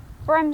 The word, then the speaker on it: Bram: the inspiration for the Bram Stoker Dracula novels. I can't say his name. Bram. Bram. Bram. Like Brum, but with an A.